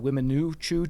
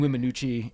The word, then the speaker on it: Weminuche: So I'm going to call it the Weminuchoo Choo Loop.